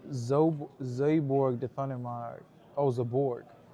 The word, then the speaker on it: Zaborg: It's pronounced Zborg Defund. Oh, Zaborg.